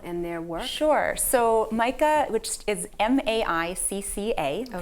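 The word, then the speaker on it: MICCA: So MICA, which is MAICCA, pronounced like Micah, the Hebrew prophet, but not spelled that way, stands for the Massachusetts Interfaith Coalition for Climate Action.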